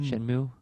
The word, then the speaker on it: Shenmue: Shenmue?